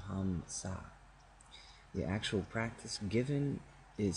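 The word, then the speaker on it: Hamsa: Hong Sa is a Bengali pronunciation of Ham Sa.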